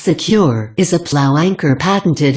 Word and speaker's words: CQR: loose from the bottom cqr pronounced secure is a plow anchor